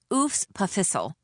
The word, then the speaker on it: EWS PFHSL: As if the EWS PFHSL, pronounced oos pissle was some kind of parasite living in the belly of this great center of learning.